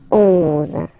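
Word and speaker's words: onze: 11, okay, so O plus N give you the sound on, on, 11, 11, okay, final E doesn't exist phonetically, 11, okay, 12, 12,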